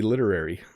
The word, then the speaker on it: literary: please say it's literally literary i love your canadian lilt sir so the t is definitely not hard in literary okay if you listen it sounds more like a d literary and literally if i